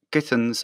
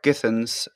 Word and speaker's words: Githens: okay hello everyone so today we have greg kittens sorry am i pronouncing you're right your name right actually yes you are defense okay now start again hello everyone today we have greg githens the author of the book how did how